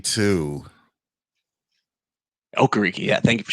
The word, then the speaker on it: Okereke: And you got Bobby Okereke too. Okereke, yeah.